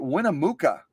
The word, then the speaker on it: Winnemucca: city name isn't it w-i-n-n-e-m-u-c-c-a I would pronounce it uh Winnemucca but maybe I'm totally screwing it up and I'm gonna